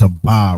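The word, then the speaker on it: אבא: We know that that's a ba right there. That's clear as a va. A, but it's pronounced aba.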